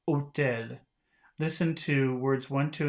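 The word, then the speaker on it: hôtel: the H in construction one two and three above had no pronunciation value it was the value o that you've heard at the beginning of otel listen to words one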